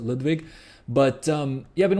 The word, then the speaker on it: Ludwig: lwig uh you can you can tell that I that I used to speak that I've studied German at some point because by by naturally I I pronounce it Ludwig but um yeah I've